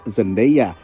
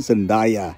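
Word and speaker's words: Zendaya: yang sering membingungkan diantaranya aktris zendea yang sering disalah lafalkan jadi sendaya lalu Barry kogen yang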